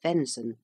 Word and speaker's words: venison: governing Council of Rome venison pronounced Fenson the Flesh of deer